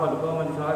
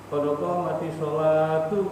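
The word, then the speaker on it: قد قامت الصلاة: sama yang koma tadi kalau bisa ee paham seperti qodqah mati salah qodqah mati salah kalau diwasulkan itu harus jadi qodqoh mati salatu ah jadi ta jangan ha juga qodqah mati salah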